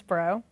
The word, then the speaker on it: Brough: Actually, it's Brough. Brough. like, Brough. Like, hey, Brough.